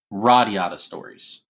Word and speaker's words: Radiata Stories: Radiata Stories. Okay, I'm probably going to mispronounce it a lot, so I apologize.